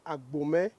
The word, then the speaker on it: Abomey: Ce sont les Français qui ne pouvons pas bien prononcer le nom de Abomé a dit Abomé comme le nom de la ville. Sinon, normalement, c'est Agomet qui est le nom à l'origine.